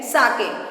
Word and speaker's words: sake: So Japan का एक drink है साके. It's not pronounced as sake, it's pronounced as sake. हमें इसे साके प्रोनाउंस करना चाहिए.